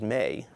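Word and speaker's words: 目: formation with two eyes their word is mei phonetically in english we would spell it m e with a long mark over the e we're going to build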